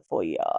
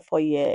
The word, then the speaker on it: foyer: Not the foyer. The foyer. If you're going to say it, say it right.